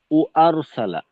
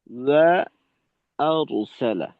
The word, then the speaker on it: وأرسل: وأرسل عليهم طيرا أبابيل ওয়াওয়ের উচ্চারণটা ওয়া অনেক সময় অনেকের ক্ষেত্রে দেখা যায় যে ও আরসালা এমন ভাবে উচ্চারণ করা হয় যে ওয়াওয়ের উচ্চারণটা ও ও আরসালা ও আরসালা এটা ভুল ওয়া ওয়া আরসালা ওয়া আরসালা এভাবে وأرسل عليهم طيرا أبابيل